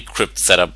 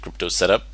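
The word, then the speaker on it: cryptsetup: into the crypto setup it's actually crypt setup but i don't know most people just pronounce it crypto setup when you type in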